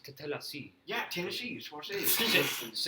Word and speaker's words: Tatellecy: it's pronounced Tatellecy.